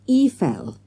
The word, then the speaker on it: Eiffel: Jessica said Mr Jones Eiffel is pronounced efell in French the guy didn't say